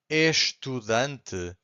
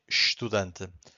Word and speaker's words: estudante: So here we just say estudante. Why this happens here? Because every time we have an S before a consonant, we get a sh sound.